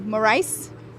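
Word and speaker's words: Morice: of uh liam morris is it maurice or morris i think it's maurice i'm not going to take a shot at that it's spelt m-o-r-i-c-e more rice there we go okay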